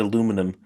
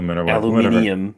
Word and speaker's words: aluminium: It's and pronounce it aluminum. Yeah. And not left tenant. Um left tenant doesn't make any sense. Aluminium, if you know.